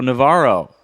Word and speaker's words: Navarro: Chicago and my guest host today is Carlo Navaro and is that how you say your last